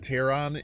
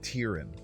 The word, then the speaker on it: Terran: So it's pronouncing that Terran is crazy.